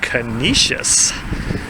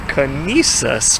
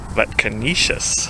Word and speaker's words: Conesus: I also talked to some locals briefly, and they say this is pronounced Conesus. Sure does look like Conesus, but Conesus.